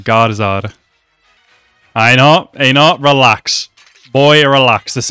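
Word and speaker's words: Garðar: The D is kind of pronounced like a Z. It's like Garzard.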